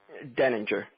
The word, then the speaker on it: Deininger: Deininger. The I silent.